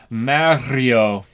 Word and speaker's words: Mario: pronunciation in Mario but everyone is wrong because you have to roll the r Mario there you go Mario